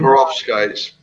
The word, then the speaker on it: Perovskite: Perovskites. Yes, yeah, all right, that's the pronunciation.